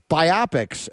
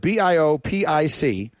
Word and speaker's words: biopic: you see that word b i o p i c how would you pronounce it I pronounce it biopic see I I I